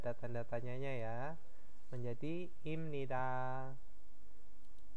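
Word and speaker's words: 입니다: tanda tanyanya ya, menjadi imnida. Nah, ini bacanya im ya. Kenapa? Biep bertemu dengan nian, biepnya berubah menjadi miem.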